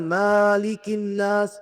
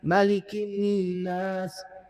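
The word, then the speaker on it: مَلِكِ النَّاسِ: Dan baca Malikinnas ini bacaannya pendek ya, bukan malikinas. Enggak, gak seperti surah al-Fatihah. Kalau surah al-Fatihah bisa dip baca panjang dan bisa dibaca pendek. Maliki yaumiddin. Maliki yaumiddin. Kalau annas, qulzubirabbinnas malikinnas. pendek bacanya. Ada imam-imam yang baca malikinas. Ini kurang tepat bacaan seperti ini.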